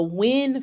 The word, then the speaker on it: Nguyen: You have the Wynn family, but it's spelled Nguyen.